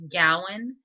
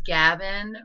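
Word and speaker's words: Gawain: great because people constantly mispronounce his name it's Gowan but it's spelled g a w a i n so it's always Gavin or gain or gwin they just always get it wrong and so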